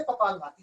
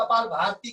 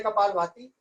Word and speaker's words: कपालभाति: चली जाती है, इसलिए कपालभाति से फायदा होता है। लोग कपाल भारती कह देते हैं, तो उच्चारण पर विशेष ध्यान दें।